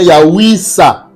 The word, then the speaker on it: Yahouissa: Jésus, Josué, Siracide, Ambala, se prononce ou se vocalise Yahouiza, bien Yahouissa.